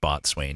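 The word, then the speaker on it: bosun: on his accent alone there's no way b.o.s.u.n should be pronounced bot swain even if that's correct i don't accept it i know there's alternatives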